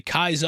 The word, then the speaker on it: Caesar: She hears them say Kaiser and is very confused, thinking that they might mean a German Kaiser. And yeah, I'm glad they acknowledged it, because yeah, it's spelled Caesar, but pronounced completely differently.